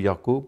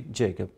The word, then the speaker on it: Jacob: is usually mispronounced in our social context we pronounce it Jacob that is in Udu yakob but in English it should be Jacob and Thomas is usually pronounced as Thomas it